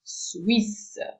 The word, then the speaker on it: Suisse: The only, when it comes to pronunciation, the only thing you have to look out for is the combination of the letter U, the kissing E in French, and the fact that you do not pronounce, you have to be aware that you do not pronounce the final E.